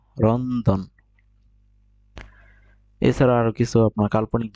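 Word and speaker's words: ロンドン: এখানে উচ্চারণ করতেছে রন্দন। রন্দন।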